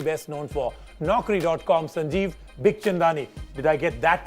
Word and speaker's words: Bikhchandani: What do most people do? What do they say? Mir Chandani. That's a very common one. Okay. Then Big Chandani.